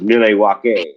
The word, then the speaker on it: Milwaukee: It's actually pronounced Milwaukee, and it means I